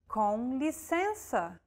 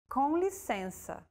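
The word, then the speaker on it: com licença: useful phrase of all it's to excuse yourself conlisensa it means excuse me conlisensa use this phrase when you want to grab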